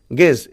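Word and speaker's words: guess: তারপর দেখো গেজ, জিইউই, গেজ, দেখো জি তারপর ইউ রয়েছে, তাহলে এর গুয়েজ না পড়ে কিন্তু তোমরা পড়বে গেজ। এখানে ইউ কিন্তু সাইলেন্ট থাকবে।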